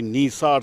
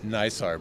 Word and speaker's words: NISAR: Paul Rosen, he's the project scientist for the NISAR satellite from the NASA end there.